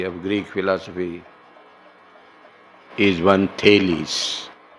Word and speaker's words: Thales: Greek words are pronounced this way.